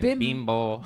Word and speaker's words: Bimbo: But you gotta say it like Mexican. Bimbo.